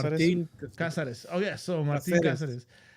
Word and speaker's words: Cáceres: Martin Cáceres. Martin Casares.